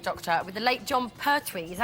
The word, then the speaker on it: Pertwee: Tom Baker was voted the favourite Doctor, with the late John Pertwee. Is that how you pronounce his name?